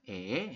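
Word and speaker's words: 애: Tulisan latinnya adalah AE, dibacanya adalah E ya.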